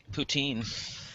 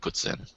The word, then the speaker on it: poutine: that's because they're pronouncing it wrong look it puts in is the proper pronunciation it is the actual it's a French